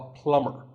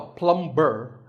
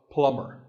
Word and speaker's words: plumber: you call him a plumber not a plum burr the bee is silent so plumber in fact in many words when you have the letter combination m b the b is silent if i had a